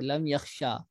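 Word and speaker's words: لم يخشى: اور لم یدعو تھا۔ یہ دیکھ لیجئے کہ الف یا اصل میں یا لکھا تو جاتا ہے یہاں پر یہ یا، لیکن پڑھی جائے گی الف، اور نطق کا اعتبار ہوتا ہے، جو آپ پروناؤنس کرتے ہیں تو اسی کا اعتبار ہوگا، تو یہاں پر مانا جائے گا کہ یہ الف ہے، تو لم یخشا۔ اسی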